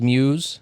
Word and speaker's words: Mews: Um, your last name is Muse. Yeah. Rhymes with news.